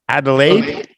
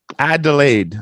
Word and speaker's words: Adelaide: oh no no wow Adelaide I delayed I guess is how you say it some Scouts from Adelaide